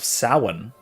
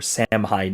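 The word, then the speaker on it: Samhain: the Celtic Festival of saan or samine if you want uh sa if you're if you're actually pronouncing it the Celtic way um there is no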